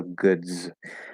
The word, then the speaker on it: goods: consonant sound will change, it sort of changes that S ending into a Z sound. So we still read it with an S, but it gets pronounced as a Z. Okay, so goods.